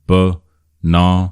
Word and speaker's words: banana: So two function words hood uh and then b na stresses on na na.